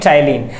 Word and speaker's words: ptyalin: Salivary amylase क्या कहता है, टैलिन, PTYALIN, P साइलेंट इसमें, सो क्या पढ़ेंगे, टाइलिन।